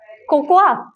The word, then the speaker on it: cocoa: is what is this cocoa c-o-c-o-a or coco so a is silent in the pronunciation the spelling is correct